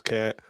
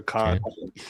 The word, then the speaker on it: Kant: It is Kant or Kant. Kant. However you want to pronounce it.